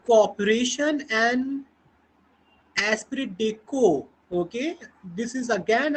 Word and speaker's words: esprit de corps: Alright, the corporation and एस्पिरिट डेको। Okay, this is again a French phrase और इसका pronunciation है एस्पिरिट डेको। Okay, it इज नॉट एस्पिरिट डे कॉर्प्स, इट इज एस्पिरिट डेको।